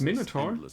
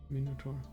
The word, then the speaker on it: Minotaur: It's pronounced Minotaur. Mode I didn't know that. If you wish to test your skills against chance itself. Minotaur. Yeah, makes sense. In German it's similar. Minotaur.